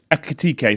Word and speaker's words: Ekitike: Although I will say, is it Ekitike? Am I saying it right? Ekitike, thank you.